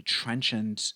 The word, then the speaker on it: trenchant: When someone expresses a trenchant opinion, they don't care about offending other people. They don't care about being liked or disliked. Let's pronounce it together. Trenchant, trenchant.